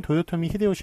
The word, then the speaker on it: 도요토미 히데요시: 그 보통 내뱉자 인데 백을 짱인데 요거 일본사람들은 도요토미 히데요시 라고 발음을 합니다만 한국에서는 요거를 풍신 죽일 요런식으로 그